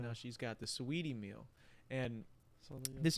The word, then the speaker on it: Saweetie: You know who Sweetie is? She was No. dating Quavo. It's like spelled like Saweetie.